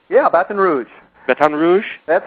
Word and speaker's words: Baton Rouge: you are you're in Baton Rouge did I pronounce that right yeah Baton Rouge batan Rouge that's how they say it batan Rouge batan Rouge I'm I'm pretty good at lingu